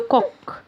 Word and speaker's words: coq: هنا الست اتنطق كي تبقى لو كوك.